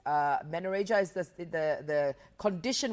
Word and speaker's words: menorrhagia: morning I just I just want you to pronounce this for me is it menia manoria manoria okay so it's it's uh manoria is the the the condition we're going to